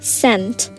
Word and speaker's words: scent: So, scent, the silent letter, it can either be S, it can be C too. But for this, I'm going to say C.